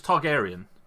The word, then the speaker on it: Targaryen: are we oh gosh are we all pronouncing this because it's Targaryen okay Aryan people yeah